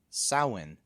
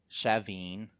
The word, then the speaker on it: Samhain: The standard Irish pronunciation of it is Samhain. There's no M pronouncing. They're pronouncing it as like Samhain, kind of like the ow and cow. Mm-hmm. And other pronunciations that follow with many Gaelic dialects include Samhain, which is interesting because of Halloween. Right, yeah. Yeah. And there's also Shaveen as one. Then there's Sowin, like glow in.